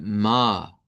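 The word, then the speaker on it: Mai: Aunque lleva una i, no la vamos a pronunciar, solo vamos a decir ma.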